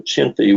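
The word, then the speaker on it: Chinthe: men were called chindits that's actually a mispronunciation of a chiny which is this half Griffin half lion that was outside the pagodas in Burma it was approved that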